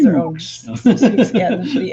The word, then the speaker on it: Sioux: And my heritage is African American, and my grandmother was Sioux, so Native American as well. So yeah, nice. I've just learned how to pronounce a word now.